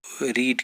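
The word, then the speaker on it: read: तो इसको हम क्या स्पेलिंग वही रहते हैं लेकिन पढ़ेंगे इसको रेड, सेकंड फॉर्म रीड की, ओके। तो इसी तरह इनकी थर्ड फॉर्म्स है, ईटन है, तो प्लेड इसकी आ जाएगी, ओके, उसकी आ जाएगी रिटन, ओके। और जो लास्ट है उसकी आ जाएगी रेड। फिर से स्पेलिंग तो एक ही लेकिन पढ़ना क्या हो, रीड की सेकंड फॉर्म को हम पढ़ेंगे रेड, थर्ड फॉर्म को भी पढ़ेंगे रेड।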